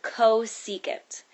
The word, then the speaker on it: cosecant: how you pronounce these this one that says CSC that stands for cosecant and this one right